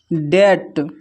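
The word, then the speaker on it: debt: फिर नेक्स्ट है डेट। डेट में भी बी साइलेंट है।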